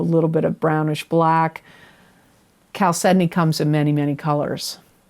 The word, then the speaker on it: chalcedony: for aries is chalcedony it is pronounced chalcedony not chow sydney it's spelled c h